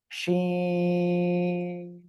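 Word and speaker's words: شين: এই অক্ষরটাও একই জায়গা থেকে উচ্চারণ হবে, জিহ্বার মাঝখান তার বরাবর উপরে তালুর সঙ্গে লাগিয়ে শাসা শব্দ করে শিন, শিন, তিন আলিফ টান হবে।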